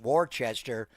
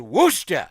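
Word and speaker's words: Worcester: It's not pronounced Warchester. It is Worooster.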